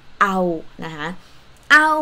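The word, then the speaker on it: เอา: like huh next verb sounds like ouch like when you get hurt but without ch ao means to want something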